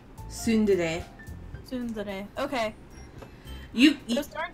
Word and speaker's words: tsundere: I actually don't know how to pronounce that word, Katie. Which word? T-S-U-N-D-E-R-E. Tsundere.